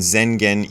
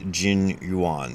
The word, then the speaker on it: Zengen: And in this version, we are using the Japanese pronunciation of the characters' names. So Dogo equals Dao Wu, and Zengen equals Jin Yuan.